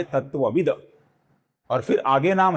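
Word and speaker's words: तत्त्वविद्: इसका जो अपूर्ण त है इसका आगे ए स्वर आने के कारण त थ द ध न में से तीसरा अक्षर अर्थात अपूर्ण द बनता है। ये तत्ववित का होता है तत्वविद।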